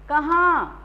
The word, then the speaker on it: कहाँ: कहाँ, ये वर्ड आप देखिए, कहाँ का मतलब होता है, जैसे अगर आपने अनुनासिक नहीं लगाया तो इसका कहाँ कहाँ वेयर, लेकिन अगर आपने इस पे कहाँ, इसका प्रोनाउंसिएशन चेंज हो जाएगा, कहाँ, ये कहा और